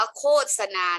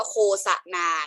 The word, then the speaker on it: โฆษณา: เป็น การ โฆษณา ประชาสัมพันธ์ คำ นี้ อ่าน ว่า โฆษณา และ ลูก คอ อุ โคตร 2 อะ ศาสตร์ นานา นะ คะ ไม่ ใช่ อ่าน ว่า โค สะ นา นะ คะ อ่า นก